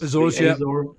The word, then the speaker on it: Azores: US and the Azores, is that how you pronounce it? The Azores. Azores, yeah.